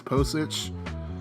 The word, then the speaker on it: Pocic: And Ethan Pocic, I believe that's how you say, or I don't know how you say his name. I think it's Pocic.